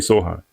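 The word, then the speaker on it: Sochan: So Chan, Jeremy Soan or Sohan, how we say his name? Jeremy Sohan.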